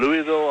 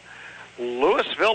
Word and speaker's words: Louisville: whole community over there mispronounce their own town. Louisville, Ohio. Now, Louisville. I've heard of Louisville. Yeah. I thought it was spelled Lewis because you're so used to Louisville. Well, you have like that all the time. Pennsylvania. Yeah, I know. But it is Louisville.